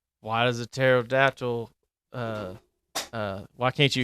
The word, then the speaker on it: pterodactyl: like why does a pterodactyl uh uh why can't you hear a pterodactyl go to the back bathroom cuz the PE is silent and like just stupid